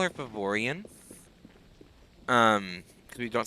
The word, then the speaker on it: Faevorion: posted on facebook so we usually call her favorian um because we don't say her name in